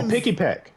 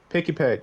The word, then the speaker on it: Pikipek: toucan like I feel like I spelled their name wrong oh pipek pikipek yeah p pipek i okay I liked pipek